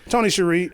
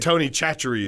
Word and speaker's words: Tony Chachere: yeah is that how you say it I've been saying Tony Cherie isn't it Tony chachere is it's it's a he's Cajun so I figure it's French like Cherie or charade that makes sense but I um